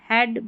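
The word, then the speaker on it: head: ई ए को हम ए पढ़ते हैं। जैसे यहाँ देखिए ये जो ई ए है, ये बड़ी ई की जैसे नहीं पढ़ा जाएगा इन सारी स्पेलिंग्स में, इनको याद कर लें। यहाँ पर ए पढ़ेंगे, जैसे हेड, ब्रेड, डेड, रेडी, weather, इन सारे स्पेलिंग्स में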